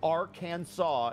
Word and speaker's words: Arkansas: be kept in bathtubs Arkansas must be pronounced Arkansas in Arkansas it's illegal to buy